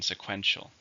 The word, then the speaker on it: sequential: this is an adjective how many syllables are in sequential three stresses on the second sequential please give me